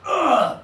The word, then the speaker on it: pun: And this one is, pun.